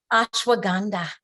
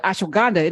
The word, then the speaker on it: ashwagandha: So ASH, ash, WAG, you wag, and AND, ha, HA, ha ha.